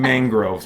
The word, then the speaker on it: mangrove: sure I've heard M Mangrove like mang mang like rhymes with Lang or Kang or whatever Mangrove and I was saying